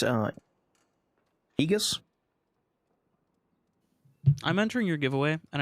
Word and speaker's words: Aegis: That actually is pronounced ages, by the way.